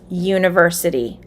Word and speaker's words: university: to talk about university what sound does the first letter make in the word university yeah yeah which is a consonant sound it is spelled with the u but it sounds like yeah so you would say